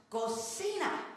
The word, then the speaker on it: cocina: That is pronounced cocina. Cocina is kitchen, cochina is filthy pig.